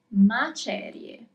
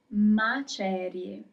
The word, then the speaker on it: macerie: Third word, macerie. Macerie.